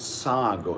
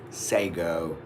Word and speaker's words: sago: Because it is not sago, it is sago. Sago.